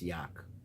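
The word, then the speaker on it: יה: Now the Mukubalim pronounce a lot of them Yak. Call this Yak.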